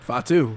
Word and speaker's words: Fatu: Fatu, you said it right. Okay. No, I said fat too, bro.